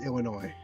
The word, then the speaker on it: Illinois: But no, it would it would not be it's not it's not it is Illinois. Well, it's it's spelled Illinois with an S. It just is pronounced.